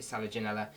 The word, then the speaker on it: Selaginella: I've heard loads of people pronounce it differently. I call it Selaginella.